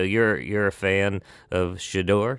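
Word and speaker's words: Shedeur: So you're you're a fan of Shidor." Shidor is how you pronounce his name. Shador. Shidor Sanders.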